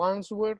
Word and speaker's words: answer: form i'm going to answer the question on the form okay now remember the w is silent so and sir i'm